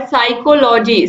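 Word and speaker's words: psychology: Silent in the word साइकोलॉजी। साइकोलॉजी में साफ साफ दिख रहा है एस वाई सी एच ओ एल ओ जी वाई, ये वर्ड्स आ रहे हैं लेकिन पी नहीं आ रहा, और ये बार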